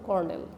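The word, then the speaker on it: colonel: উইভেট নামের যে প্রস্টিটিউট ছিল, কনস দ্য এন্ডারলি কলোনেল বানান, কিন্তু উচ্চারণ হলো কর্নেল।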